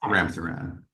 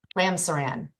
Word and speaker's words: Ramsaran: Sir, am I pronouncing your name correctly? You are, Your Honor. Okay. Yes. Ramsaran. Ramsaran.